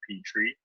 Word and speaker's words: Petrie: sound you know the p3 actually sounding like a Petrie which is the exact pronunciation of my name so yeah I was